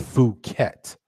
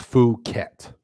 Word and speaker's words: Phuket: Strange Fruit is helping me out with pronouncing it. It's Phuket. Okay, got you. It's pronounced Phuket.